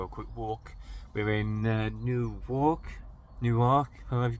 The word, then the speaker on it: Newark: We're in Newark, however you pronounce it.